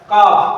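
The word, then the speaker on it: calf: अब इसमें देखते हैं पांचवा number C ए एल एफ का क्या है, बोलो का में क्या है, एल के बाद क्या आया हुआ है, एफ, जो कि नियम में दिया गया है कि एफ अगर आता है तो एल साइलेंट होगा।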